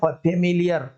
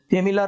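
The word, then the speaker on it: familiar: फेमिलियर, फेमिलियर से तो आप लोग फेमिलियर होंगे ही, और फेमिलियर का नॉर्मली जो हम बोल रहे हैं फेमिलियर, फेमिलर हम बोलते नहीं है। अगर फेमिलर बोलते तो ये हो जाता, फेमिलियर बोलते हैं और फेमिलियर लिखना है,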